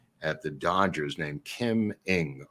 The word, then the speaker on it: Ng: And we had a woman who was the assistant GM at the Dodgers named Kim Ng. It's spelled NG. I think it's pronounced Ng, right?